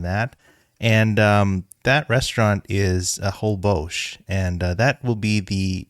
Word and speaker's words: Holbox: So there's an island in Mexico with the same name, and right. It is pronounced Holbox. Okay, all right.